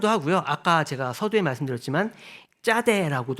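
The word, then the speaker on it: צדי: 아까 제가 서두에 말씀드렸지만 짜다라 합니다 이게 쌍 지우이 이게 발음이 서양에 잘 없기 때문에이 발음을 어 짜라고 잘 발음을 못 한다고 해요 예 그래서 어 서양 사람들은 차대고도 많이 하는데 우리는 사실 어 쌍주 옷을 발음할 수 있으니까 짜라고 해도 괜찮습니다 그래서 이것은 낚시바늘 또 이제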